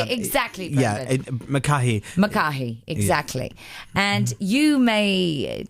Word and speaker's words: McCahey: McCahey, exactly.